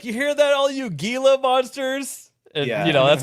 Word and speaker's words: Gila: where it's like, you hear that all you Gila monsters. And you know, that's funny to me cuz I grew up around Hila Monsters. You're supposed to pronounce it Gila Monster.